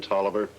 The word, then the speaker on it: Tolliver: name of toliver crane toliver uh it's spelled just exactly as it sounds with a double l in tolliver what's he done well